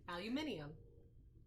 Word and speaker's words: aluminium: I know that's how you say it. Aluminium. And we say aluminum. Also known as Reynolds wrap.